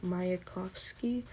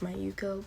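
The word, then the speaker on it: Mayuko: worse a joke also sorry I pronounced her name wrong it's my Yuko but I hate all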